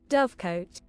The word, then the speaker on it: dovecote: But also I haven't actually drafted the dove coat yet, right? So I should. It's dove coat or something, isn't it? Or dove cot? How's this pronounced? Dovecote.